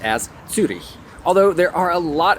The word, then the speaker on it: Zürich: those 2 little dots over the U and pronounced as Zurich.